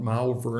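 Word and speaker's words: Malvern: let's drive to malver they call it malver in England I shouldn't mispronounce it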